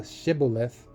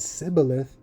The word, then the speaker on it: Shibboleth: Then said they unto him, "Say now Shibboleth," and he said Sibboleth, for he could not frame to pronounce it right.